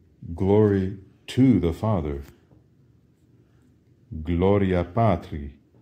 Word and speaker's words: Gloria Patri: how do you say glory to the Father Gloria Patri how do you say and at how do